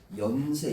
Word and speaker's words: 연세: 근데 그게 앞에 올 때는 어떻게 돼? 연세. 이렇게 되는 거야. 니은이 탈락하는 겁니다.